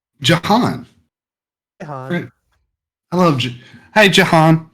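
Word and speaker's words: Jhon: Oh, this John is is spelled Jahan. J. H-O-N. Jahan.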